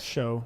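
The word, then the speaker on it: Shough: that or show shout s-h-o-u-g-h spelled like though Bo with an S show show Okay Tyler show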